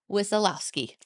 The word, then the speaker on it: Wisialowski: And our guest today is Emma Wisialowski. Right? Wow. Yes. That is not how I pronounced it.